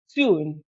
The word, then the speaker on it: Saskatoon: novel which is titled leave my bones in ston yes I got the pronunciation of that right yay trust me before